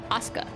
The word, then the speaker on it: Asuka: How do you pronounce her name? Asuka.